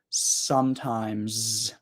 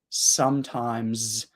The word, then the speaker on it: sometimes: pronounce the S and you need to pronounce the S sometimes sometimes actually I I want